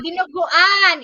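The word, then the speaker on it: dinuguan: And I can't even pronounce that word. Can you say it there? Yeah. Dino Guan.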